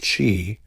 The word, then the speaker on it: qi: At its core is the concept of qi, pronounced qi, the life force or energy flowing through the body along invisible channels called meridians.